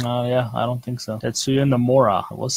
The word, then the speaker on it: Tetsuya Nomura: Tetsuya Nomura, I was saying it right.